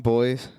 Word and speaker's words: Bois: I don't know if you're familiar with John Boyce or John Bois, depending on your pronunciation, from SB Nation.